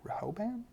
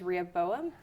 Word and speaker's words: Rehoboam: Rehoboam? Rehoboam? Oh, I've been saying in my head is Rehoboam. Rehoboam.